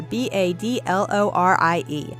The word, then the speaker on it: badlorie: or create a sim on this channel, I'm badlorie on the EA gallery, and it's spelled just like you see it here, B-A-D-L-O-R-I-E, badlorie.